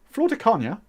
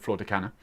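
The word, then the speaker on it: Flor de Caña: pinnacle with florida kanye i'm going to say it properly florida kanye instead of florida canada florida kenya for me they get better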